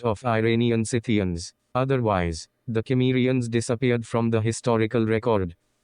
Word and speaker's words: Cimmerians: It looks like the hard K sound is the right pronunciation to go.